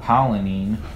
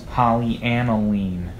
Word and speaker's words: polyaniline: and higher hydrochloric acid that's not polling that's not pollen een that's polyaniline whatever I don't want to